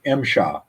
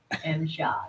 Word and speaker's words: MSHA: It's pronounced MSHA. MSHA, got it.